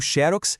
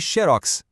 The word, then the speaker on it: xerox: Existem palavras no português que têm uma vida dupla. É sério, elas aceitam 2 pronúncias diferentes e as 2 estão certas. Por exemplo, tanto faz dizer acrobata, ou xerox e xerox. As 2 formas são válidas.